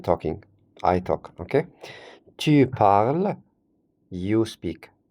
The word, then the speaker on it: parles: Tu parles, you speak. Parle with tu, ending with ES, and we don't have to pronounce both.